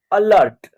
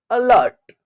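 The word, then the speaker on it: alert: इसका उच्चारण क्या होगा अलर्ट ठीक है अलर्ट देखिए ए का उच्चारण अ हो रहा है ए का उच्चारण अ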